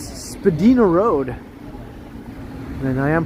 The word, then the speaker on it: Spadina: Hey, look, it's Spadina Road. And I am pronouncing that correctly. Spadina Road, and across the way, Spadina Avenue.